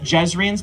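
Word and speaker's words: Jezrien: You get to decide how things go, but he had Jezrian's blade, or Jezrian, depending on where in the world you are and how they pronounce the name.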